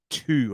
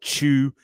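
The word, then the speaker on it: Tew: his name is Charles too I think it's how you say it or chew t-e-w Charles t e w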